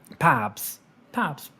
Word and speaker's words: Pabs: My name is pronounced Crabs with a P. Pabs.